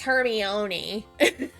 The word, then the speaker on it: Hermione: was wrong because I kept calling her Hermione. I just thought that the I was silent and it was French or something. My sister was like, no, it's Hermione.